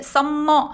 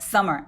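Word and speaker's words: summer: 마 요거 바랄 때 썸머 하면 안되고 서머 m 하나인 것처럼 발음 하세요 할 rx1 아 아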